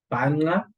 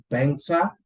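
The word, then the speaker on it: Banxa: So let us stick with the cheapest one, which is Banga, or you can say Bangsa. Some people can pronounce it as Bangsa.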